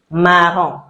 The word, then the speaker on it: marron: We don't pronounce the N at the end, so marron.